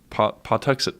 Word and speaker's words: Pawtuxet: named Squanto a member of the these are pronounced pot to say Pawtuxet tribe who had been kidnapped by an English